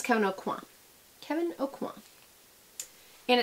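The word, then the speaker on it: Kevyn Aucoin: Not Kevin O'Quan. You don't pronounce the N. I heard him say his own name. He knows his own name better than we do. It's Kevin O'Quan.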